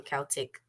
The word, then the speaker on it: Celtic: That's how I used to pronounce it before. I started saying Celtic, the right way.